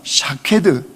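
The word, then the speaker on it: שָׁקֵד: 예, 히브리어로요 살구나무라고 하는 이 아몬드 나무는 샤케드 이런 뜻입니다. 이런 의미 소리가 나요. 그런데 이 지킨다라고는 히브리 단어는요 쇼케드 이런 뜻이에요. 샤케드, 쇼케드. 그러니까 이게 발음이 비슷한 거죠.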